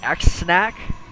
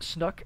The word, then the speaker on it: Xsnac: i watch with snuck it looks like x snack that's why I thought it was pronounced but he told me that's kind of pronounced snuck in English I'm perfectly fine with